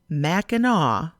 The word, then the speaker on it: Mackinac: to mackinac island and that's pronounced mackinaw you take a boat from either saint ignac from the north or mackinaw city in the south